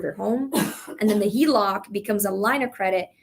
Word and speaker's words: HELOC: You can also do the, what is it, HEVOC? Is that how you say it? HELOC? HELOC.